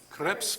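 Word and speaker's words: crêpes: to cook um CPS how do we pronounce that creps that's right I learned that the hard way I pronounce it in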